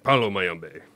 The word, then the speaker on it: Palo Mayombe: Palo Mayombe. Nice pronunciation, Dave.